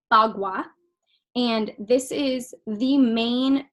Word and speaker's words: Bagua: So it's pronounced Bagua, and this is the main tool used in Feng Shui.